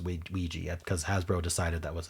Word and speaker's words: Ouija: And for some reason it's pronounced weegee cuz Hasbro decided that was a neat pronunciation for that.